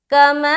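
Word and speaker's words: كما: کریں گے وہ دیکھیں۔ کاف زبر کا، میم الف مد زبر ما، ایسا کریں گے ہجے، ٹھیک ہے۔ تو کما ایک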